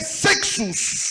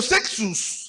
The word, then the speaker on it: sexus: Nous l'appelons en grec sexus. Tunaita Mkigreki sexus. Sexus comme ça se Sexus prononce.